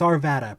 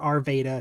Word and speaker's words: Arvada: wrong all the time also it's Arvada pronounced similar to nevada not our Veda not not err Veda it's Arvada I'm I've never heard